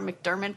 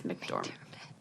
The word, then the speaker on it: McDormand: And I always call her McDermott, but that's not it. It's McDormand.